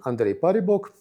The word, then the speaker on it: Andrei Paribok: Well, I my name is in Russian Andre Paribok. In Sanskrit I proposed it to be pronounced Andrea Paribhoga.